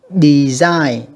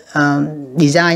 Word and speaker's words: design: Design âm 2 nha các bạn. Design nha các bạn.